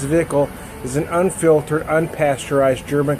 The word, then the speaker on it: Zwickel: So our flagship lager, pronounced Zwickel, is an unfiltered, unpasteurized German classic that finishes as smooth drinking, vitamin-rich from the yeast, naturally cloudy beer.